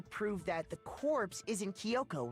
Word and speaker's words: Kyoko: You pronounce it Kyoko, bitch, not Kyoko. There's no I there.